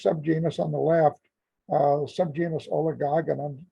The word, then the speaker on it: Oligogonum: The first subgenus on the left, subgenus Oligogonum. Some people like to pronounce it Oligogonum, so it's however you please.